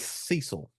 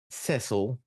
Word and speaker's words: Cecil: whatever you want to the man's name is Cecil all right not Cil he's not English he's Cecil all your all your